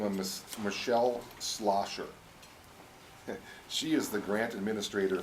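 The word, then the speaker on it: Schlosser: a person by the name of Miss Michelle slosher she is the grant administrator for Minnesota homeland security now our first name is spelled mi CH e ll e the last week is more difficult slosher CH SDH excuse me schl OSS er while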